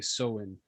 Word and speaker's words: Samhain: Yes, Samhain. Or did I pronounce that correctly? How are you supposed to pronounce it? I believe if you were a true pagan, you would say Soin.